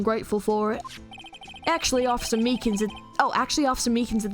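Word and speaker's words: Meekins: Actually, Officer Meakans Oh, actually, Officer Meakans at the detention center told us. Ah, that poor little doggy. Poor guy. I keep getting his name wrong and calling him Meekly.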